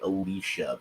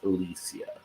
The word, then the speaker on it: Alicia Silverstone: she she's pretty particular that it's Alisia silver stone and you might hear me occasionally accidentally say Alicia but it's Alisia that's how it's supposed to be pronounced so let's have a